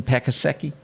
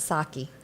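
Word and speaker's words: Psaki: i never said gin pakiseki no i think that the p is silent saki okay you should have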